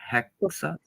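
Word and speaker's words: häxa: Ooh, for Haxa is Swedish and pronounced for hexa.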